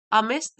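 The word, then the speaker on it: amidst: हु ले अमिस्ट the furniture, अमिस्ट इसमें D silent है, हु ले जो कि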